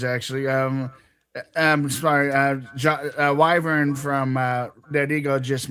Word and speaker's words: Wyvern: Oh, it's Wyvern. How do you pronounce it? It if you're talking about the base from Dead Eagle, it's Wyvern. Wy V R. Wyvern Wyvern, if you're listening, Dead Ego, there it is.